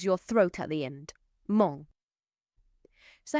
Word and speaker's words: mon: And it rhymes with the word for good, bon. So it's got that nasal sound on the end of it. So it's not a mon, but it's mon.